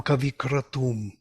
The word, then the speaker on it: kavikratu: Ushijam Kavikratum. The creative will of the seer, Kavikratu. You can see that the stress is on the first word.